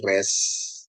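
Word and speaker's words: ריש: Yang terakhir ya, terakhir res sintap ya. Res itu pengucapan seperti Anda melafalkan R atau untuk kata rasa ya.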